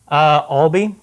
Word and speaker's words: Albea: Oh, how do you pronounce your last name? Albee. Albee. So, Okay. Yeah, it's not obvious, so I forgive.